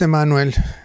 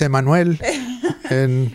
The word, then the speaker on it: Emanuel: How do you say it in English? Emanuel Flutes. Yes, it's Emanuel. Emanuel. En español es Emanuel.